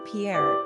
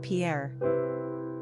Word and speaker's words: Pierre: Therefore, we're guessing Pierre is probably used most heavily in states where